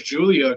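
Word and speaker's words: Giulia: Okay, so it's Julia.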